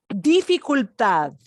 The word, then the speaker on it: dificultad: Could you help us pronounce that difficulty? Dificultad.